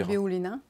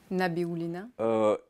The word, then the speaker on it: Nabiullina: Je n'arrive jamais à prononcer son nom. Elvira. Nabiullina. Hein? Nabiullina.